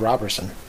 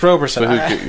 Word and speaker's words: Roberson: We didn't have Robertson. Or Roberson. We didn't? Shit, how do you say his name? I think it's Roberson. Yeah, it's Roberson.